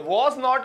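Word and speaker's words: wasn't: हमेशा कहता हूं कि जैसे जी भी साइलेंट करते हैं ब्रिटिश ऐसे ही टी भी साइलेंट कर देते हैं यूं नहीं हम यूं बोलते हैं आई वाजन टेकिंग क्लास वो यूं नहीं बोलते वो कहते हैं आई वाजन टी की आवाज ही नहीं आती आई वाजन टेकिंग क्लास मैं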